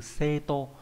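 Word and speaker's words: 生徒: Thì chữ đồ này không có âm cương thường dụng mà chỉ có âm ôn là tô không trường âm. Ví dụ trong từ xê tô là chữ sinh và chữ đồ, nghĩa là sinh đồ là học trò.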